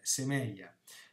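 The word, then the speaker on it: σημεῖα: Semeion è il singolare, il plurale neutro, sposta l'accento, è semeia.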